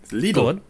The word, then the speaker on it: Lidl: Anyway, I hate to break it all to you, but it's not pronounced Lidl. Lidl. Lidl.